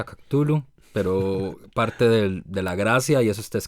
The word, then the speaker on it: Cthulhu: Yo pronuncio Cthulhu, pero parte de la gracia, y eso está escrito en las cartas entre él y su círculo, ¿verdad?